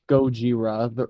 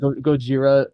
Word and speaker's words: Gojira: Also, I like how it's like Gojira. The Ra in Gojira is the same as the Ra in Akira. Because they're both technically the same like syllables in Japanese as well.